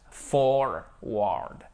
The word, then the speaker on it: forward: Forward. Chaque fois, vous avez le R. Ok, forward. Forward. Vous avez l'accent tonique ici. Alors attendez, hop, voilà. Forward. Mais il faut bien faire le, pardon, le R ici.